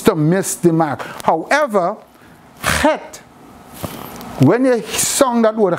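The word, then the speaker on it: חטא: However, het, when you sung that word het, the only letter there is silent is the aleph. The het and the tet is pronounced.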